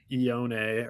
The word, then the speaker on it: Ioane: That's the way it goes, So we got the Chargers on the clock here, and you took Vega Ioane earlier. Ioane. Sorry, that's how you say it.